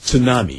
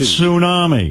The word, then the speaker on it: tsunami: properly you you know there's a t in front of that word it's pronounced tsunami it's a Japanese word